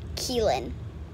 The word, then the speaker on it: Killen: is uh this is killen it sounds like killing what like go how it's spelled but it's keelan i thought you hold